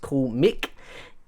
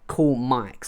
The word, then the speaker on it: Coolmic: And of course, the spelling for it, because even though it's pronounced Cool Mick, how I pronounce it, because of the spelling, it's like Cool Mike.